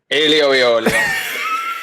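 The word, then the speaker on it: aglio e olio: Alio e olio. You have to say it like that, or else it doesn't count.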